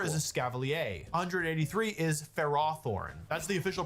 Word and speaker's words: Ferrothorn: 183 is Ferrothornne. That's the official pronunciation if you're wondering. I always call it Ferrathorn and then if you're commentating, you have to call it Ferrothorn.